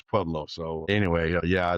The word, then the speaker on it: Pueblo: Pueb- Pueblo. Pueblo. Pueblo. Yes. Say that real real real slow for Mike. Did you hear that, Mike? Yeah. Stop Diablo. It's Stop Pueblo or yeah, it's Pueblo.